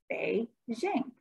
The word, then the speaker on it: Beijing: And the capital city is Beijing, pronounced Beijing, Beijing.